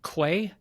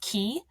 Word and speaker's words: Quay: yeah it is um it's funny because you can also be pronounced key uh if you're from the UK so sometimes people call me key but yeah it's it's Quay I'm going to pretend